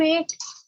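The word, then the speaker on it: eight: और ऐसा कौन सा वर्ड है जहां पर जी एच दोनों साइलेंट है? Ma'am एट।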